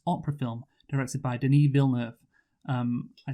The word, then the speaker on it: Villeneuve: Yeah, and it's Villeneuve because that's Jacques Villeneuve and the other one, Gilles Villeneuve. That's how their names were pronounced. They were French-Canadian, so Denis, I assume it's the same, so that's what I'm going to call him.